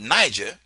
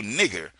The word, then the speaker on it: Niger: So instead of admitting that, okay, I mispronounced the word Niger, they just added another G, making Niger into nigger so they could keep their pronunciation. Now let me show you this one more time because I want you to understand where I'm coming from. Look at Niger. The word is still Niger, even though it got another G.